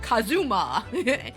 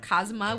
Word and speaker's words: Kazuma: way like a like a very English person would do would be like Kazuma instead of kazma which is the right pronunciation but nah the case